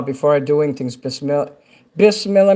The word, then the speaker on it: Bismillah: Bismillah means in the name of Allah. And that's how you say it there. Bismillah.